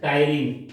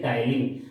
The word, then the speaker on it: ptyalin: Salivary amylase is also known as Salivary amylase is also known as ptyalin, PTYLIN, ptyalin, where P is silent. Salivary amylase और ptyalin.